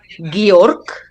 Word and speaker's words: Georg: Yeah, and Georg is in German, that's how we pronounce it, Georg.